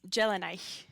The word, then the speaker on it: Dea: D's D's often at the beginning of a syllable have kind of a J sound.